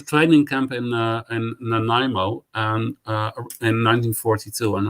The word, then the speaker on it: Nanaimo: was in um in a training camp in nanaimo is is that how you pronounce it no no no that's perfect pronunciation